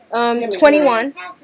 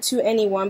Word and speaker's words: 2NE1: She's a South Korean pop star from the group called 21. All right. Hey. And for the longest time, I called it 2NE1 because of the way it's spelled out.